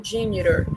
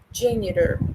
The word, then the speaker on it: janitor: Mas no inglês americano, eles falam como se esse T tivesse um som de R, certo? Então, por isso que fica janitor. As duas formas estão corretas, tá? Você pode escolher uma forma para você pronunciar, forma que você achar mais fácil. Eu, particularmente, eu gosto muito do inglês americano, então, geralmente eu falo janitor, certo? Com esse T, né?